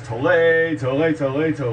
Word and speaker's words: Tolle: Because we either say Tolle, like you're avoiding a bull. Tolle. No, it's Tolle, if you score a goal.